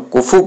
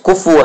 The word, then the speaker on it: کفو: خیال نہ رکھا جائے۔ اصل تلفظ کفو ہے، لیکن ہم کہتے ہیں کفو، تو کفو میں صرف